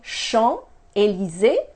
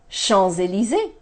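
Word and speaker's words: Champs-Élysées: like a Z so instead of saying Sean le Z I am going to say Sean's ELISA shows ELISA Lea Sean's it easy doesn't that flow better yep somebody is giving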